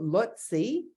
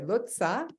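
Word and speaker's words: Leutze: image this is Emmanuel lutzi I and I'm sorry lutza this is how you pronounce it and this is George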